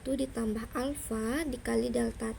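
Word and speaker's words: α: L sama dengan L0 dikali 1 ditambah alfa dikali delta T. Ini bacanya alfa ya, ini bacanya beta, ini bacanya gamma.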